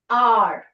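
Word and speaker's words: hour: R. Now here, H is there. H is a consonant, but the sound is R. O-U-R. H is silent.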